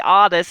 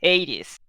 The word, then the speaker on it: Hades: pronounce it in English normally in English it's Hadis but Aaron was very very specific that she wanted her character's name to be Aris and not Hades Hadis yes like like in